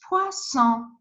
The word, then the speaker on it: poisson: So if you have just one S between two vowels, you need to pronounce Z, like poison, poison. But if you have S with the other consonant or two S together, you need to pronounce C. It's poisson. This one, it's poison, but this one, it's poisson, poisson.